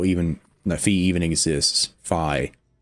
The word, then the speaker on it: Fi: that fee even exists fi I'm sorry I have to break that habit fi okay I I'm I'm sorry I've said fee my entire life since I've known about